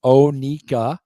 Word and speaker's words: Oneco: Oneco. It's Onika Onika, is the Florida pronunciation. It's Onika.